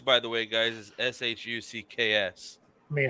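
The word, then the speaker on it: Shough: Texas are the third team and it is pronounced Tyler shuck shuck shuck I don't know why those things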